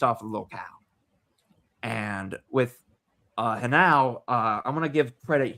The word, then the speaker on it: Henao: But to say nothing more of speaking of just hot, Angel Henao. That is how you pronounce it, folks, not Angel Janao.